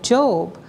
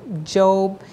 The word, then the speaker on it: Job: And it reminded me of Job, how Job was, well, let's get it. Let's just read a little bit of Job. First of all, Job, and it's spelled Job, J-O-B, instead of Job, he was persecuted terribly